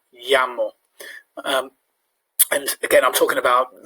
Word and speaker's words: llamo: Other key thing to look out for, the double L in Spanish, which is a bit like a Y sound. Me llamo, llamo.